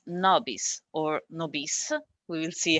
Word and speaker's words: NoBis: padua and i'm very glad today to present nobis from latin so it's a correct pronunciation is nobis and this is a crowd monitoring service uh